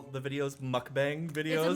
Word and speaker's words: Mukbang: Muck is pronounced as like the Pokemon name. Bang pronounced bang bong. pronounced bong. Mukbang.